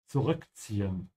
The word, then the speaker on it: zurückziehen: Zurückziehen. Make sure whenever you pronounce this word, which has two Z's, to pronounce the T. There's a T sound in the Z.